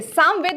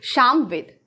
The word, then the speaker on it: सामवेद: अब ये समझिए कि अगर यहां पर साम ना बोलकर बहुत लोग उच्चारण क्या कर देंगे श्यामवेद अगर मैं इसको सामवेद ना लिखकर मैं शाम वेद लिख दूं तो इसका मीनिंग चेंज हो जाएगा ना शाम का मतलब क्या